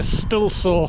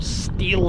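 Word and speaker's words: Stihl: noise it sounds like a stilla or steel saw they pronounce it it's for cutting masonry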